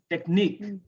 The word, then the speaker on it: technique: Stress ick, technique, critique. These are French words. That's why we stress those syllables.